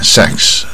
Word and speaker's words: sex: 这个 sexually 是卷舌卷一半，sex 啊。性啊，sex 也常用啊，很多念到不准，念到 six 啊，好像六，一二三